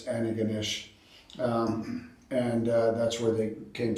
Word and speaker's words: Antigonish: from and Antigonish, which some Americans mispronounce as Antigonish, but it's Antigonish.